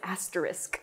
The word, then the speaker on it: asterisk: It's not an asterisk or what, I don't even know. It's asterisk.